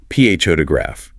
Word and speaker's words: photograph: The stress is on the first syllable, P-H-O-tograph. That second O reduces to a schwa, photograph.